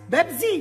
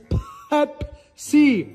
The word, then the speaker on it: Pepsi: Pepsi Pepsi Pepsi yes Betsy mom look at the can look at the letters it's Pepsi yes it's bad Z mom with a p not a bee this website foreign